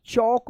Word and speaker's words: chalk: टॉक पढ़ेंगे, TALK, टॉक, CHALK, यहाँ पे भी क्या है? एल साइलेंट है, तो क्या होगा? CH से चौ होता है ना, तो चौक पढ़ेंगे।